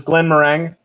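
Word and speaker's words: Glenmorangie: i love these um i'm probably mispronouncing this this is glenn mereng uh there's an ig at the end but scottish is weird oftentimes you can ignore those kind of syllables um again i haven't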